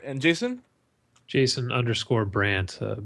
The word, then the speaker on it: Brant: and Jason Jason unor Brandt b r NT there we go easy enough phonetically friendly so you can't get it wrong simple no D everybody puts a D in my name for some reason people